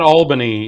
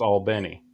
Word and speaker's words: Albany: uh tim wing paul benny yes i always mispronounced that benny benny not albany in in georgia right it's all benny that is right it's an accidental thing and